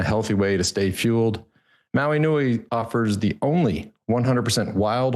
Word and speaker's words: Maui Nei: access now again that's Maui Nei Venison docomo and Maui Nei venison is spelled m a UI like the island in Hawaii Maui Nei nuui Maui